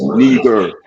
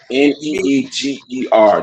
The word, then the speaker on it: Niger: Go to the blue letter Bible and press the button and let the phone pronounce it for you. It says Neger. Neeger.